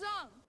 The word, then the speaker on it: Aang: And by the way, just a fun little tidbit, they do pronounce the names different from the show as well. My name is Ang. I'm Aang.